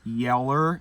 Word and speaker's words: Yeller: Yeller like old yeller.